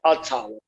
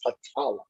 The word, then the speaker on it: Patala: Some pronounce it Atala, but it's Patala.